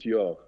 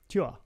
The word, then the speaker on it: Tuor: Although I saw your name, I saw your name pronounced Tour, T-O-U-R, and it was on a poster, and I was like, oh, guys, how could you get that wrong? You know. It's actually pronounced Tuor. Tuor.